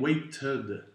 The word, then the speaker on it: waited: Dans le cas des verbes qui finissent en D, comme tend, ben, ça va être tended. Alors on le prononce le ED.